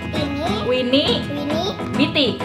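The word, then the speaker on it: Tini Wini Biti: Terus ini ada Timmy Winnie Winnie. Apa? Timmy Winnie Bitty. Dibacanya? Timmy. Ulang. Timmy Winnie Bitty. Bitty. Dibacanya? Timmy. Tini, Winnie, Biti. Biti. Dibacanya Tini Winnie Biti. Tini Winnie Biti. Nah, cakep.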